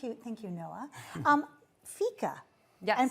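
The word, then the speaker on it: fika: Um, Fica. Yes. I'm pronouncing that correctly because I was reading about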